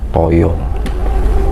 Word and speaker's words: taya: Sang Yang Taya. Nah Taya itu artinya Taya toyo kan taya bisa coba bacanya toyo ya.